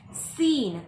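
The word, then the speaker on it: scene: फिर है सीन। सीन का मतलब होता है दृश्य, और इसमें सी साइलेंट है।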